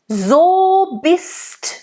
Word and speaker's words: bist: So bist du. And again, in bist, it's almost like there's a double S in there. That's what it sounds like. It makes the I an open I.